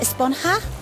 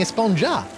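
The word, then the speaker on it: Esponja: sponger Grande thing has been about actually it's pronounced a spawn half with an H sound at the end yeah the we've all been saying a spawn jar yes I know it's been bothering me this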